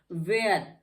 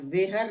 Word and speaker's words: where: वेयर, वेयर पढ़ते हैं, वेहर नहीं पढ़ते हैं, यहाँ भी एच साइलेंट क्योंकि डब्ल्यू के बाद एच है इसलिए साइलेंट है।